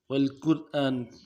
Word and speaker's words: والقرآن: والقرآن الحکیم، والقرآن الحکیم۔ والقرآن، قرآن پڑھتے ہیں، والقرآن، قرآن نہیں پڑھنا ہے، عربی لہجے میں پڑھنا ہے۔ والقرآن والقرآن، قاف کو موٹا کرنا ہے، وا کو موٹا کرنا